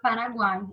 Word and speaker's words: Paraguai: em juntinhos né Por exemplo com a palavra Paraguai separei aqui para gente ver Paraguai isso aqui